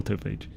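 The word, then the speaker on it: Autophage: AutoPage or or autophagy it's definitely AutoPage autophagy is where you sell spelled the same but said different uh it's still beta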